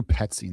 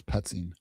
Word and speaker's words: Petzing: So regarding, and I gotta remember even how to pronounce this dude's name. And so initially, all right, personally, so yeah, it's Drew Petzing. That's what it is. Petzing.